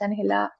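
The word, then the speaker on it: Ángela: So for the record, my name is Angela. Um but I'm Colombian. So the real pronunciation of my name is Anela and I am the policy person at the office of racial equity.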